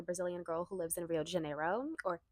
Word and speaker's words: Rio de Janeiro: girl who lives in Rio de Janeiro, or Rio de Janeiro. Everybody hates it when I don't say it right because I'm Brazilian and I lived there.